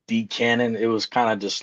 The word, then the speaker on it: DCANON: cuz I always thought it was DC cannon until typing it out. Uh, it's just decannon.